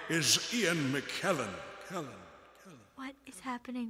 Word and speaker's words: McKellen: an echo chamber Ian McKellen what no I said it rhymes with Helen it's not Iain McKellen I don't get it